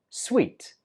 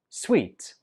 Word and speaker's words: suite: at a hotel and this one is difficult to pronounce because the spelling is nothing like the pronunciation we pronounce this word as sweet sweet the Executive Suite is